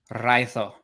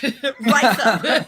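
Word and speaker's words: Raidho: I pulled 2 runes together, and it was Iwaz and Rado? Okay, so Ewaz and Raitho. I'm not rolling my R. Raitho.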